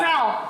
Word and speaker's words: CAL: Berarti bukan call bacanya. Bukan. Sel.